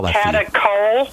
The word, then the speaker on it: catechol: Ask your doctor if they know about those, and I'll spell that for you. Catechol? Catechol.